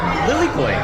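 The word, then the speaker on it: lilikoʻi: Lilikoi.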